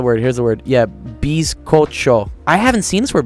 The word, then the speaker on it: bizcocho: Bizcocho.